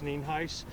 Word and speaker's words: Nienhuis: My headphones Sheriff Al Nienhuis, spelled Nienhuis, and it's pronounced Nienhuis.